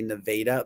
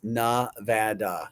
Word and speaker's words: Nevada: Because some people may say Nevada, but it's Nevada.